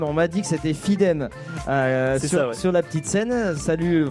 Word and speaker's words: Fidem: Eo, la fanfare Eoley, c'est comme ça qu'on prononce Etyon Yonle. Eyonle. OK. Nous aurons Fidem, on m'a dit que c'était Fidem sur la petite scène.